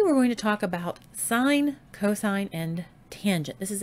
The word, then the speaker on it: sin: t a n but you still pronounce them as sine cosine and tangent don't say sencos tan still sine cosine